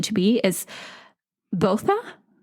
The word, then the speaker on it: Botha: differently, but this is how I found the pronunciation to be, is Botha.